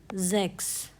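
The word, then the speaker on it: sechs: Next reading rule है सीएचएस। जो सीएच है उसको हम प्रोनाउंस करते हैं कस। जैसे कि जो सिक्स है जर्मन में उसको हम कहते हैं जैक्स। ठीक है? तो जो सी एच है वो कस की तरह आ गया।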